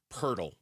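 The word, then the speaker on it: Jakob Poeltl: Yakob Purle. Purle rhymes with turtle.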